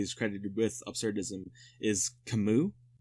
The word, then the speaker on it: Camus: credited with absurdism is Camus like because it's French the u.s. is like the S is silent so yeah it's actually Camus instead of Camus but I think Camus